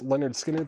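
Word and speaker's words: Lynyrd Skynyrd: Moon Fever 36.99 on Tom Petty Leonard Skard Pronounced Leonard Skinner $36.99 Stone Temple Pilots for Rocktober exclusive sky blue vinyl $39.99 is at Sacred Mushroom for sale.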